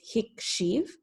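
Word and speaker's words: הקשיב: And even though our infinitive is lehakshiv, the way that we pronounce this is hikshiv, following the E sound pattern of our binyan.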